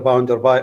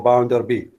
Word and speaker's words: Bounderby: The chapter 4 is entitled Mr. Bounderby or Bounderby. Either pronunciation is correct.